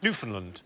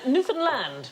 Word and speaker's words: Newfoundland: Newfoundland. Yeah, I'm going to have to shoot you now. Uh, no, it isn't the correct pronunciation. Newfoundland. Hey, enough violence on this show. Newfoundland is the correct pronunciation.